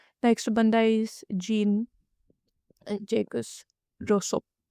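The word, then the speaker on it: Rousseau: Next बंदा is gene जेकस रोसो। हां, यह रोज़ है। ओ जैसा लग सकता है बट आई चेक ह pronunciation on Google इट्स रोसो।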